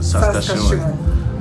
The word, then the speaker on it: Saskatchewan: Okay, somebody has taught me how to pronounce Saskatchewan. Saskatchewan. You'll forget tomorrow. I won't forget tomorrow. Saskatchewan.